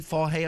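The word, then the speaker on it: Fage: Do you know that it's F-A-G-E, Fahe, I think they pronounce it?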